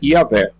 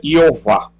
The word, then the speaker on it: Yahvé: Hoje a pronúncia teológica geralmente aceita é Yahvé, mas a variante comum é Jeová, adotado aproximadamente a vocalização de Adonai.